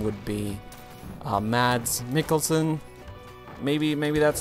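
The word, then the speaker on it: Mads Mikkelsen: how you pronounce him I as a German would say Ms mikkelson but I have no idea so I would go more for a ah instead of a mad I don't know I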